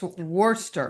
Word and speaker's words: Worcester: You you Well, there's no h, so it's Worster.